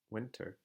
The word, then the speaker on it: winter: States do this and if the T comes between N and a vowel it almost kind of disappears so for example if I have the word winter winter you can hear plenty